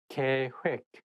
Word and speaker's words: 계획: I think when it has double vowel like OE of 획, it's not heck, it has to be 획. That is the one making this word not easy to pronounce. So make sure that you say 계획, not 계획.